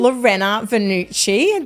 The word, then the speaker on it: Laurena Vannucci: further Ado let's get into the podcast welcome Lorena venucci did I say that right I always just